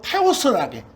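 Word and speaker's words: θεός: 그런데 우리 하나님, 신 이걸 그리스어로 테오스라게.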